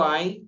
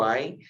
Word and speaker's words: Ain: som mais brando e o Ain tem um som mais forte, quase imperceptíveis para nós. Se nós estivéssemos ouvindo uma palavra que contém essas duas letras, quase nós não a perceberíamos, de tão suave que é o som delas, apesar do Ain ter o som mais forte que do Aleph.